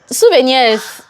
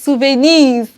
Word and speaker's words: souvenir: when we hear this they're like Sven Sven be that I'm like it's souven which one is Sven is it like draw me oh Lord it is not s this is souvenir and they're like M